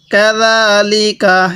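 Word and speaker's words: كذلك: কাযালিকা, এটা জিম না, এটা জাল, জালটা উচ্চারণের সময় একটু নরম করে উচ্চারণ করব।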